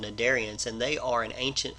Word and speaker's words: cnidarians: Concept 33.2 is about the cnidarians. The C is silent.